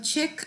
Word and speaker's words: Czech: 이름 모두 다 똑같은 발음 check라고 합니다. 자, which questions did you choose in the exam? The picture in the kitchen is by a Czech artist.